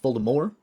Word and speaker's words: Voldemort: Number one, it was originally supposed to be pronounced Voldemort. You do not pronounce the T because it is a French name.